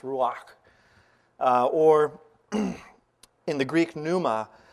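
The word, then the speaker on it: רוּחַ: That Hebrew Ruach, as I'm told it's pronounced Ruach, or in the Greek pneuma, means air in motion, spirit, breath, wind, which flows.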